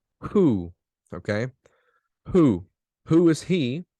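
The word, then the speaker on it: הוא: singular pronoun is who is he notice the pronunciation Hebrew who who okay who who is he and look at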